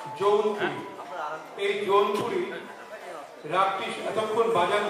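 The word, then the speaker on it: জৌনপুরী: বাজে বাজে বাজে রাগটির সঠিক উচ্চারণ ছিল যৌনপুরি এই যৌনপুরি রাগটি এতক্ষণ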